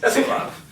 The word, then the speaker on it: Sieloff: So close. Sieloff. It is Sieloff.